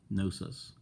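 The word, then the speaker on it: Knossos: wall paintings at enosis and that's where the silent K gnosis they learned from these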